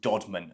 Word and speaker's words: Deadman: made was called the dodman it's actually spelled Deadman but pronounced dodman at the time followed by ramhead of